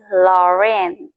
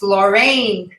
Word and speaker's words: Lorraine: All right. My name is Lauren. No, it's not. It's Lorraine.